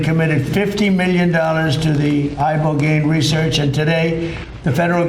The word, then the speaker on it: ibogaine: injuries underwent, it's called ibogaine treatment. Ibogaine. Remember the name. Is that pronounced relatively properly, would you say? Yes.